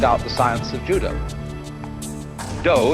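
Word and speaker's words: 道: the science of Judah do is the way the Japanese pronounce Dao ju means gentle Judo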